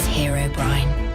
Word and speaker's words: Herobrine: like in two words I had to write it that way for the um for the AI say Herobrine properly cuz sometimes she would say it properly and then she would say like Herobrin anyway here's part two